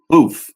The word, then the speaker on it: Boof: about her former DJ booth boof is how you pronounce his name he was a DJ